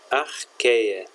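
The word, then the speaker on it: Archaea: nome mais usado ar que se escreve achar é latim se pronuncia arqueia tão temos vários tipos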